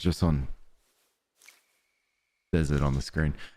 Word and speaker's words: Jusant: So we're playing a game called Jusant. No, it's Jusant.